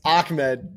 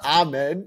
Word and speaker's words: Ahmed: It's Ahmed, not Ahmed. That's not how you say it.